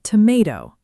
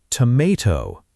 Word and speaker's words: tomato: The word tomato. Americans say tomato with that long A sound in the middle. And British speakers say tomato with a deeper rounder A sound, closer to father.